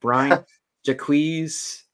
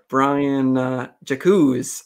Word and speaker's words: Brian Jacques: And like I was pronouncing this author's last name so bad. Was it Brian Jacques? Brian Jacques. I was saying it so bad. Well, I mean, it's a French last name, so I always said